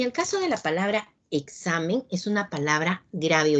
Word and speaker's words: examen: entonces como pueden observar la mayor fuerza de voz recae en la penúltima sílaba y al terminar en